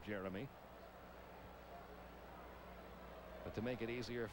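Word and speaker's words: Geremi: actual spelling of his first name is g-e-r-e-m-i-s pronounced jeremy but to make it easier for radio and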